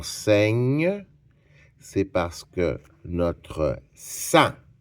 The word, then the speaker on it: sang: C'est parce que notre sang, on va écrire le mot sa s a n g.